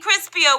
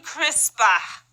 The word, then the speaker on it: CRISPR: Now, we don't mean crispier, we mean CRISPR.